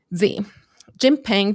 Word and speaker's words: Xi Jinping: Xi Jinping to work things out.